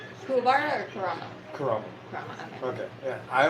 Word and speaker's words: Kurama: But you get to see more Kuruma? Kurama? Kurama? Is that his name? Kuwabara or Kurama? Kurama.